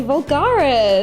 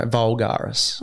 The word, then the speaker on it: Voulgaris: Today I'm joined by the lovely Anthony Vulgaris. Hello everyone. Is that how you pronounce Vulgaras? Yeah, Vulgar. A big guess. Yeah, that was really good. A lot of people say vulgar. No, Vulgaris.